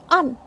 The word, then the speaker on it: and: This is A-N-D, and. But to maintain the flow of speech, we generally say un.